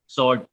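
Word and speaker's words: sword: okay honest okay 20थ स्वर्ड स्वर्ड हां एस ओ आर डी आपने मतलब डब्ल्यू को साइलेंट रखा 21 वमेंट ओके 22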